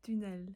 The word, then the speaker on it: tunnel: glisse à l’intérieur d’un tunnel – désolée la bonne prononciation c’est ‘tunnel.’ Et ça permet de voir l’intérieur du corps.